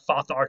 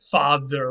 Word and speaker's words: father: Notice we don't pronounce it like fathar today. We pronounce it father, which is a slightly different th sound, if you've ever thought about that.